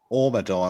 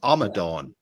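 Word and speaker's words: Amadan: And this is And I'm pronouncing this one correctly because a lot of people, you see a lot of people pronouncing this Omadon or something. It's Amadon. Yes.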